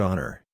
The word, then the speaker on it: honor: The first letter of the word honor, for example, is a consonant, but it's unpronounced.